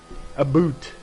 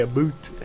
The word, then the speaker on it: about: my opinion is just the pronunciation of the word abate a boot they say a boot they do they say